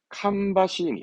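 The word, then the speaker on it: 芳しい: 이때 발음은 캄바시, 향기롭다.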